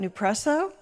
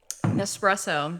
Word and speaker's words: Nespresso: Newresso. Nespresso.